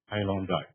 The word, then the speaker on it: Hailung Dai: I have a weird name, Hailung Dai. And literally pronounces as like high, long, and then die.